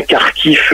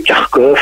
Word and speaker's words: Kharkiv: l'ukraine vers la ville de kharkiv parce qu'on prononce bien car tiff de précis parce que beaucoup de gens peuvent se poser la question du pourquoi vous voyez kharkov et kharkiv maintenant tout à fait car qui